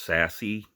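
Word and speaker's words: Sasse: Ben, I guess you say it's pronounced Sassy, Ben Sassy, Nebraska.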